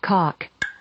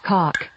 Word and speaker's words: caulk: Cock. Oh, okay. Do you need a spelling on it? Yes, please. Caulk. Can we hear it again, please? Yes. Cock.